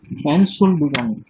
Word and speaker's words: Entschuldigung: আচ্ছা সুমন, হ্যাঁ সুমন, এটা কি হবে উচ্চারণ? এনশুল্ডিগং। আচ্ছা, তারপর তারপর ফারহান উদ্দিন। এনশুল্ডিগাং। হ্যাঁ ভালো করে বলেন। এনশুল্ডিগাং।